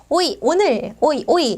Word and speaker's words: hoy: 오늘날 " 호이 " 에서 " 호이 " 는 H 가 묵음 입니다 . "h" 에는 발음 이 없으므로 "hoy", "hoy domingo" 는 오늘 이 일요일 이라는 뜻 입니다 .